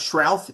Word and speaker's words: Shrath: And Bill, your your last name, you pronounce Shrath. Is that right?